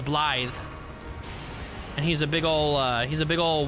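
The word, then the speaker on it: Blaidd: Well, it's spelled B-L-A-I-D-D, which is, according to Young E, it was Welsh. And apparently in Welsh, the W-D, the double D makes the sound. So it's Blythe.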